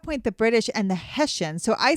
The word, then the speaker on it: Hessians: And so I actually look up how to pronounce, and then I type it in. Yes. And it's the Hessians. Hessians. So King George she kept saying III the Haitians.